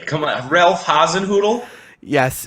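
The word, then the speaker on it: Hasenhüttl: say come on ralph haasenhoodle yes it's spelled h-a-s-e-n-h umlaut ttl sounds like a crossbreed of a poodle and something else but it sounds like a dog breed for sure welcoming everybody to fantu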